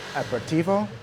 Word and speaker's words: aperitivo: We're trying to understand how aperitivo, how is it pronounced aperitivo?